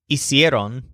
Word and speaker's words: hicieron: You might recognize something familiar about hiciste, hicieron, and hicimos. They're very similar to the equivalent words in ir's closet. Remember fuiste, fueron, and fuimos. Hiciste rhymes with fuiste. Hicieron rhymes with fueron.